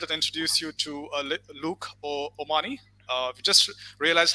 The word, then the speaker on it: O'Mahoney: straight to it and introduce you to Luke Omani. We just realized how to pronounce his name right, so we're going to keep saying that today as much as we can. Luke Omani, and thank you for joining us, Luke.